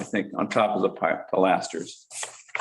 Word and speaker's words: pilaster: Just on top, I think, on top of the pilasters. The pilasters or pilasters? I've always pronounced it pilasters, but Pilasters. Too. that was a masonry contractor. I was gonna say in the south, it's pilaster.